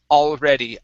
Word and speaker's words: already: the word already okay make sure to hit that L at the very beginning okay all already I was already a slave I was already already